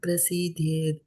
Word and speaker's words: prasidhyet: And na pra and not par. Na prasidhyet akarmaṇaḥ. Niyatam kuru karma tvam karma jyāyo hi akarmaṇaḥ śarīra-yātrāpi chate na prasidhyet akarmaṇaḥ.